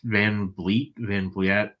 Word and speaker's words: Van Vliet: I think it was Chris Van Vliet. How do I say his name? Van Vliet, yeah.